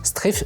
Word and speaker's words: Strafe: Il faut vraiment faire très attention, il ne faut pas prononcer ça strafe à la française. Strafe, ça vient de l'anglais strafe, strafing.